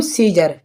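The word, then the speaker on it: Caesar: लिखा हुआ है सीजर तो आप इस सीजर में देखें सी ई ई से बाद में आया है ए तो यहां पर ए क्या है ए साइलेंट है ठीक है तो इसके लिए बोलेंगे हम सीजर ठीक है सीजर माने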